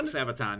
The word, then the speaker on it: Sabaton: now how do you say that man sabaton sabaton yeah sabotage they're like irish